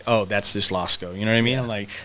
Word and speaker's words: Losko: Losko.